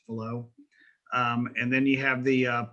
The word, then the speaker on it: Fallot: the tetralogies of Fallot, and that's pronounced Fallot. It's I guess a French guy. And so they're all kind of strange anyway. And so it's Fallot instead of fallout.